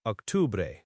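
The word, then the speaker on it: octubre: Octore. O C T U B R E Octore Octore. Okay. Octore looks very similar to October. The C here is like a K sound.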